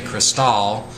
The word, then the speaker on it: Cristal: you're telling someone there you say Cristal because that's how they pronounce it it's easier for them to recognize where you're going so once we got